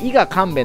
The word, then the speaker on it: 伊賀神戸: 頭ですよね伊賀神戸の時はね神戸と読むんですよね伊賀神戸